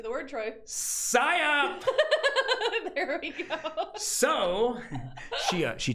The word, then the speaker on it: psyop: Psyop.